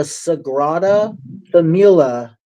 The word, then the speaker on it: Sagrada Familia: Cathedral La Sagrada Familia in Barcelona.